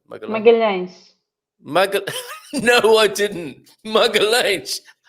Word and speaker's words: Magalhães: Have I pronounced that correctly, Gilda? Magellan. Magalhães. Magal. No, I didn't. Magalhães. Okay, Magalhães.